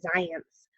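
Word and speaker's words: Zajonc: onc and that's actually pronounced science like it rhymes with science so science did a study where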